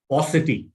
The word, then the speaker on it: paucity: go ahead deficiency deficiency this is how we pronounce the word read it again deficiency deficiency paucity paucity is the word it's sir or city